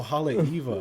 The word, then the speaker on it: Haleiwa: Like highway, exactly. like highway, Halewa. Like, oh man. Now I know. Now I know about Panana. Panana. Is it Panana? Yeah, Panana. So Panana. Or maybe Yeah, we're so- saying it wrong. No, I don't think Nah, so. I think you guys. Panana. Nope. Banana Street and Halewa. Yeah, I was like, oh, Haleiwa.